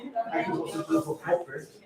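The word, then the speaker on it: Pöppl: I can also do for Poppl, like you say, Poppl. Yeah, Poppl. It's really difficult. The pronunciation of the L is something like So R, or it's so hard.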